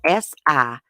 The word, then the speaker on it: Siobhan: I had to look up how to pronounce her name this morning because it's spelled like this. It's spelled Siobhan. Yeah. I checked 2 different YouTube channels, pronunciation channels, and that's how it's pronounced.